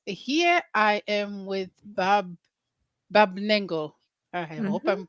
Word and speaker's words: Barb Nangle: relationship coach and here I am with Bob Bob lengo I hope I'm pronouncing it right you are yeah and we